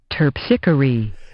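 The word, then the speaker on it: Terpsichore: means i don't know this word at all terpsicary it's going to be my guess pronunciation here we go terpsichory yes yes what does it mean the muse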